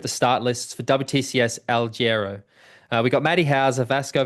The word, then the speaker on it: Alghero: Alghero?